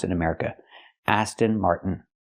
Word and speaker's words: Aston Martin: We can take the T and make it a stop T.